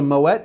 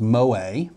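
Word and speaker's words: Moët: bought this oh by the way it is Moet for any of you that think I just pronounced it wrong I tell you that I was part of the camp that thought it was Moe because it's French it ends in E.T well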